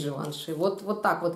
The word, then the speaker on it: Givenchy: еще Джентльмен от Givenchy или как он считается произносится Живанши и тоже достаточно приятный обычный такой маленький пробник Ну Givenchy он есть Живанши Вот вот так вот